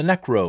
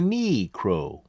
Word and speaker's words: necro: I'm Be's solo video about the necro or the kneecrow. I don't know why people pronounce it that way, but it is annoying and amusing.